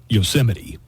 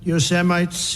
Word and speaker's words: Yosemite: one thing that's disqualifying Trump has obviously never seen a Bugs Bunny cartoon with yosity Sam or he would know how to pronounce yosity when they gaze upon Yos semites yanites towering Seas look you have anti-semites and you have yoses and then the seoa